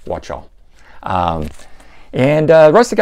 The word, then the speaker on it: Wachtel: Now, somebody else had told me I should pronounce that as Wadi Wachtel, but to me, C-H is ch, not ka, so I'm going with Wachtel.